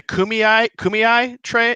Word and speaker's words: Kumeyaay: I'm blessed, I want to make sure I pronounce it right, but you're a member of is it the Kumeyaay tribe? No, I'm from the San Pasqual Indian Reservation, but we are Kumeyaay Indian, yeah.